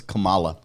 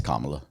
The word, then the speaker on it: Kamala: It's Kamala. Oh, whatever. No, it's Kamala.